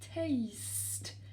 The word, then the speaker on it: taste: vraiment goûter, c'est to taste. Be careful in pronunciation. Taste. Alright, I need my green pen. The sound A. Just like in bake.